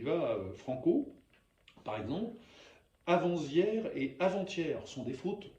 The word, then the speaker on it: avant-hier: va franco par exemple avant-hier et avant-hier sont des fautes grossières dites avant hier sans prononcer le T j'ai à couru tout